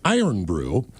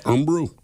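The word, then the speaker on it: Irn-Bru: Imbrew, the stuff you were talking about, Ted, the Scottish one, is Iron Brew. And Earn is pronounced kind of like Earn. And they have great commercials, the guy says. So it's Earn Brew?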